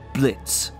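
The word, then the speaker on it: Blitzø: Speaking of the cast, let's start with the titular boss himself, Blitz. Yo, is silent.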